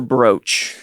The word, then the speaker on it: brooch: Do we say brooch or brooch?